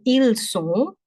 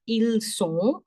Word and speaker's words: ils sont: Okay, then ils sont, elles sont. S for making it plural, S for making it plural. Ils sont, elles sont. This T, no sound, no sound.